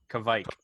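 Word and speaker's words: kveik: He's a little bit off on his pronunciation. Kishmike. It's okay. we'll ask our in-house Swede. What, Well, I'll tell you Joel, what we're could gonna you say it again? Say it again one more time. Kvike.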